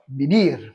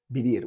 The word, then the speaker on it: vivir: Parce que on verra dans quel moment la UV se prononce V, d'accord? Quand elle est entre deux vocales, par exemple. Ave, un ave, un oiseau. Mais sinon, c'est la UV se prononce B. Ok. C'est écrit des UV, mais se prononce B. Les deux se prononcent B.